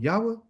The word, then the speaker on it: Yahweh: Yahweh.